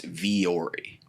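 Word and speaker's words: Vuori: It's Viore. It's Viore. That's what they spelled when they sent over like the talking points and stuff like that. Like Gary V. VEE -ORI.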